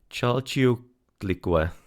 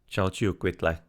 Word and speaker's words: Chalchiuhtlicue: Chalchiuhtlicue. Chalchiuhtlicue. Chalchiuhtlicue. Somewhat. I'm not the pronouncing the H in there. It's kind of like a silent one, but nonetheless Chalchiuhtli Chalchiuhtli Chalchiuhtlicue.